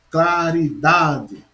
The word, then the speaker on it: claridade: que isso quer dizer na palavra claridade eu só queria ouvir eu não falei para você ficar fraca qualidade possui como sílaba tônica dar claridade claridade você já uma palavra paroxítona a última sílaba a